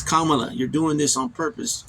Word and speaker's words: Kamala: Instead of challenging Mace to say Harris's name correctly, she refused, instead pronouncing Harris's name again as the other panelists shouted, Kamala, Kamala. It's Kamala.